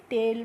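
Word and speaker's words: tail: टेल पढ़ेंगे।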